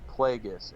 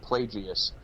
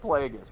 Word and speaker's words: Plagueis: people thought he was plagueis and some morons pronounce it plagias it's plagueis bro but anyway um all